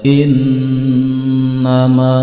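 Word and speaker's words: إنما: Di sini ada huruf nun berharokat fathah dan ada tasjidnya. Maka ketika membaca huruf nun yang bertasjid tidak boleh disentak, serta harus didengungkan. Panjang dengungnya yaitu 2 sampai dengan 3 harokat. Innama.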